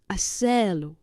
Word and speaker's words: hacerlo: Yes, but don't give me two pushes. Two. Only one. Hacerlo. Hacerlo. Right. Hacerlo. Yes. So hacer, and you hook on the lo. As to the R. Hacerlo.